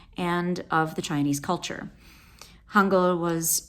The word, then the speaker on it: Hangul: So the history, Hangul, also called in Korean Great Script, can be spelled Hangeul or Hangul, pronounced Hangul.